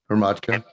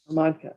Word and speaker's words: Ramatka: Okay, how do you say it? Hermatka? Ramatka. Okay, I wasn't too far off.